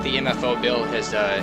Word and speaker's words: MEFO: Well, not World War II per se, but when I feel like the MFO bill has it's passed its course. So MEFO bill, that's how it's pronounced.